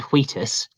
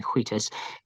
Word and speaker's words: Wheatus: If there's any comparison between me and Wheatus, and you do have to pronounce the H in Wheatus. Is Wheatus... Wait, who did Teenage Dirtbag? Wheatus.